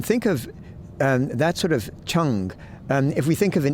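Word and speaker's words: 誠: pronouncing it wrong, but it's like Cheng, and it's spelt in English Cheng, but I understand it's pronounced Cheng, and basically it means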